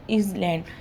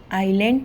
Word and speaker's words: island: ठीक है, देखो आइलैंड की स्पेलिंग यहाँ क्या लिखी, ISLAND. अगर हम पढ़े तो ये क्या हो जाएगा, अगर इज़लैंड, लेकिन जो प्रोनाउंसिएशन है उसमें एस साइलेंट होता है. ठीक है, इसलिए हम आइलैंड पढ़ते हैं.